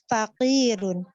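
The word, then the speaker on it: فقير: Al-waladu faqirun. Anak itu miskin. Ya, Masya Allah. San. Ba'daha. Afwan. Fakirun apa fakarun Ustazah? Faqirun. Faqir, qafnya kasrah.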